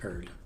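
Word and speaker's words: Urdr: Urder. Oh, pronounced Erd. The second R is silent.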